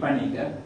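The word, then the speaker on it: Paniker: name he used because he always used to write his name as you will see with a p-a-n-i-k-e-r particular that is the normal way a european would pronounce the name panika and encounter in india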